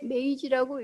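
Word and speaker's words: 明治: 아마 여러분들이 한 번쯤은 메이지 유신, 명치 유신 이런 식의 표현을 들어보셨을 텐데, 자, 여기에서도 한자로 명치라고 쓰고 일본어로 읽었을 때 메이지라고 읽습니다.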